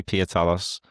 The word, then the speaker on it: Pietalos: Yeah, I let people pronounce things however the way they want. And So I say Pietalos, Pietalos.